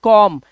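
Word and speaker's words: comb: सिर्फ बोलेंगे कॉम्ब। B silent रहेगा क्योंकि एम के बाद आया है।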